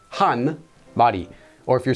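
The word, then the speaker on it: 한: that's Madhi one cow you wouldn't say Hana body you would say hun body or if you're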